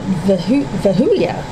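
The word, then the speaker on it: Vehuiah: We've got vahula. That's how you pronounce it.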